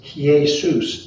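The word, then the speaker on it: Ἰησοῦς: our pronunciations in the in the greek joshua would not be a hard jay it would be yah yahushua so jesus is he soos it's it's it takes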